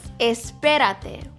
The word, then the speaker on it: espérate: Espérate. Wait. Espérate. Stress the P, the second syllable.